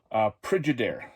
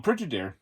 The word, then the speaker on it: Pridyider: And the film we were talking about is called Pridyider.